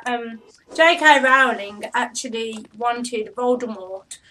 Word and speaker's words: Voldemort: in an interview that the tea in Voldemort is silent this may not be this may be to the fact that the French word Mort meaning death has a silent teeth magic rings does it